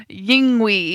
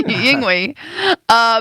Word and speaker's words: Yngwie: There's no V in it. It's Yes. W in Swedish. That's a V. Well, we're in America. So what do we call? How do we say his name in America? Yingwi. Yngwie. That's how it's spelled. You know how as we do in America.